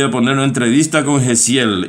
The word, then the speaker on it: Jasiel: Gesiel se escribe, bueno, yo. Con J. J-A-S-I-E-L, Gesiel.